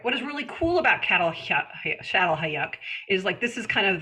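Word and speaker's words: Çatalhöyük: It looks like Cattle Hayuk, but it's pronounced Shattel Hayuk.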